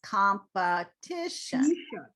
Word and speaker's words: competition: t i o n it's the syllable before t i that's the stress so it's competition competition competition not t